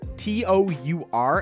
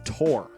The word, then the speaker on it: tour: Like, I don't understand the people that pronounce T-O-U-R as Tor. Like, why? It's tour. It's literally spelled tour. But some people say Tor, like T-O-R-E.